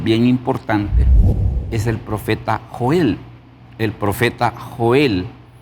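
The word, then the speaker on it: יוֹאֵל: importante es el profeta Joel. El profeta Joel. Y el nombre de Joel, ¿cómo se dice en el hebreo? El nombre de Joel en el hebreo se dice Joel. Joel.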